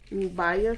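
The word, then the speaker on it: Biot: आणि मग आपण आता काय घेऊया, बायोट सावर्ट लॉ. आता हा जो बायोट सावर्ट लॉ आहे तो उच्चार त्याचा बायोट, एका वेळी बायो सावर्ट लॉ असं करतात, किंवा बायोट सावर्ट लॉ असं करतात, किंवा बियॉट करतात.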